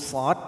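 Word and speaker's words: ص: Huruf shad kalau kita urai ada dal sukun di belakangnya. Nanti harus ada bunyi qalqalah atau bunyi pantulan. Shad.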